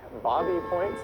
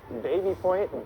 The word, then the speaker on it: Baby Point: Some will say Bobby Point, some will say Baby Point, Babby Point. I've heard it pronounced differently by people who live there. Very inconsistent.